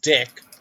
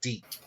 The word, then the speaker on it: DiC: if you know teak it's not pronounced dick oh you know calm